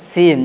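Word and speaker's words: سين: যেমন নোক্তা না থাকলে সেই অক্ষরটাকে আমরা দন্ত স দিয়ে পাতলা করে উচ্চারণ করব, যেমন সিন, যেমন সিন।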